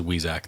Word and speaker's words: Weizak: I think he says Weizak. That's how he pronounces it.